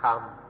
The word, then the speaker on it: ธรรม: The Thais just pronounce it in their own way, Dhamma or Tham, but still have to use this old Indian word.